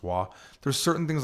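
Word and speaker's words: は: You write it with a ha, but it's pronounced wa.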